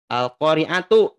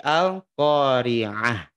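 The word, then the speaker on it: القارعة: khas sukun al-qariah ya Jadi bukan Al Al qoriatu tapi al-qariah yetu bahkan Bapak Ibu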